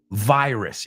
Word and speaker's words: virus: cure, no cure, incurable virus. Y esa palabra sé que lo sabéis, pero se pronuncia muy diferente. Virus. Viral. You say virus, viral. We say virus, viral. ¿Ok?